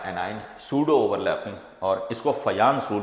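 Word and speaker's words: Fajans: बोले पूया, ठीक है, तो ये जे जो है वो वाई प्रोनाउंस होता है, फयान्स रूल ऐसे ये पढ़ा जाएगा।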